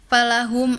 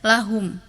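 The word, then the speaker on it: فَلَهُمْ: Terus ada di surat at-Tin tadi Ananda harusnya bacanya falahum ajrun. Tadi Ananda baca lahum ada di surat Azzalzalah ayat 7.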